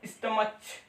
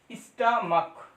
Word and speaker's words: stomach: यहाँ पर इसे पढ़ेंगे तो स्टमच, स्टमच नहीं बच्चों, क्या स्टमक, मोनार्क, इनक। तो यहाँ पर हमने देखा कि CH का जो प्रोनाउंसिएशन है वो क्या हुआ चा आया, यहाँ पर CH का प्रोनाउंसिएशन क्या आया का आया।